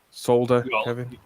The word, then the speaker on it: solder: does one pronounce solder well that's solder you've got to remember the silent q that's in the word solder to get that that and don't forget the lonely l yeah okay right okay